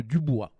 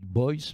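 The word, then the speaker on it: Du Bois: oublier le rôle précurseur, je prononce à la française, mais les Américains ne prononcent pas comme ça, de Dubois. DU plus loin bois. Alors les Américains disent Boyce, mais évidemment on a tendance, nous, qui c'est un nom d'origine française, à le prononcer ainsi, qui a joué un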